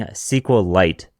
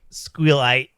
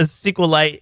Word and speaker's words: SQLite: a bit odd but because squeite is so popular I'm just joking we Honestly though we should just mispronounce things like that for the sake of a Tik Tok clip be because a SQL